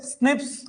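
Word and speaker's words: SNP: बोला क्लियर है बात एसएनपी इसको प्रोनाउंस कैसे करते हैं प्रोनाउंस एज अभी लास्ट में वापस टेली करवा देंगे आपको है ना प्रोनाउंसड एस स्निप्स भी बोल दिया जाता है इस मार्कर को शर्ट में जैसे आरपीडी को रैपिड बोल दिया था वैसे इसको स्निप्स य से क्वेश्चन बने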